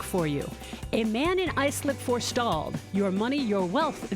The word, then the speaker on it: Islip: writes in she's like you were right it's pronounced i slip she was saying that